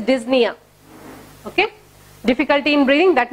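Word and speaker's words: dyspnoea: And difficulty in breathing, that is called as dyspnea. D-Y-S-P-N-O-E-A. P is silent there. It is dyspnea.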